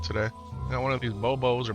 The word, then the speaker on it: Bobo: Got one of these bobos or bob-bobs. Gotta pronounce it bobo, but it could be pronounced bob-bob.